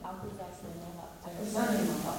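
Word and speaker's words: Akwesasne Mohawk: You know, you should pronounce this. I don't want to mess it up. Akuzasimohawk.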